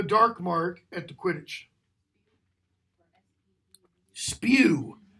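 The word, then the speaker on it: S.P.E.W.: Spew, which is exactly how it's pronounced.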